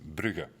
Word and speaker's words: Bruges: Is that we're pronouncing that right, Bruges? Yeah, we say. Is it with the S or without the S? I never. In French, it's Bruges, and in Dutch, it's Brugge.